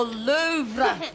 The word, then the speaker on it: Louvre: louvre to say hello the louvre the r is silent okay what's it like